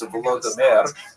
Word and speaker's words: Volodymyr: What's especially important in its history is the conversion of one of its leaders, Volodymyr, pronounced in Russian Vladimir, shown here in a statue overlooking the Dnipro River that runs through the middle of Kiev.